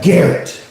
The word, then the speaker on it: Garrett: It should be something with a name like- like Garrett. Yes, with a hard G.